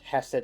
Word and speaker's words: Hesed: Oh yeah, we did also learn that it's pronounced Hesed and Bina, Ah. as opposed to Chesed and Bina.